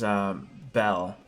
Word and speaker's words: Bel: Am I remembering the name wrong? There was No, so it is Belle.